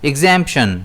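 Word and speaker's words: exemption: इसे हम प्रोनाउंस करेंगे एक्सेंपशन जिसमें स्ट्रेस जो है वो जेड पर रहेगा।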